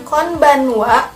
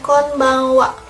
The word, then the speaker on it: konbanwa: Bisa diucapkan konbanwa atau bisa juga diucapkan konbanwa. Bangwa, bang, ya, bisa.